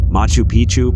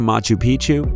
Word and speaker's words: Machu Picchu: machu picchu peru when a place rhymes with picture you can almost bet